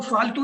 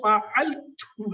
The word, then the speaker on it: فعلت: یہ وہ فالتو نہیں ہے وہ جو ہم کہتے ہیں جو تو فالتو ہے، یہ فعلتو ہے، فالتو نہیں فعلتو ہے.